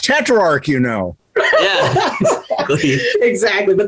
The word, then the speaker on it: Tetrarch: they're like have you heard of tetrarch it's pronounced tetrarch you know exactly exactly but they're super stoked